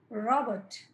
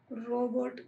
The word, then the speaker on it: రాబర్ట్: రాబర్ట్, అది రోబోట్, రోబోట్ కాదు, రాబర్ట్.